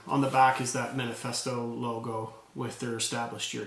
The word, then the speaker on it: Manifesto: And it's not, they spell it M-N-F-S-T-O. They kind of leave everything out, but it's Manifesto Toronto.